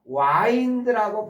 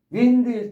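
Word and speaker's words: wind: 윈디 자 그런데요 똑같은 스펠링에이 단어가 와인드라고 발음되면 해 보실까요? 와인드 윈드일 때는 바른 바람이고 와인드 하면은 감다라는 말이에요.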